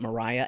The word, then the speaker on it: Maria: M also it's funny it's spelled Maria but it's pronounced Mariah and it always throws me off because you know half it well not half part Italian.